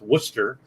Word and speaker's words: Worcester: it's called it's pronounced worcester uh i mean in some areas you know i mean the alphabet you know let's throw letters in and go these are silent you know um yeah